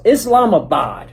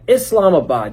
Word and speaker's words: Islamabad: It's Islamabad. Yeah, Islamabad.